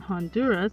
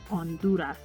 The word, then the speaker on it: Honduras: can be maintained for example in hawaii it's pronounced ha whereas in honduras it's silent honduras e sounds like the double e letter combination